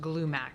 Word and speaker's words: Glumac: I believe it's pronounced Glumac.